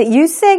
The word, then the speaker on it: use: 자, use의 경우에는 여기에서는 사용이라는 의미로 명사로 쓰였습니다. 그래서 use 이렇게 발음해 주시면 되겠습니다.